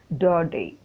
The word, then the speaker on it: Daudet: This is 10th standard unit 6 prose the lost lesson by Alphonse Daudet. Daudet அப்படின்னு கொடுத்திருக்கு, but we have to pronounce it as Daudet. T is silent.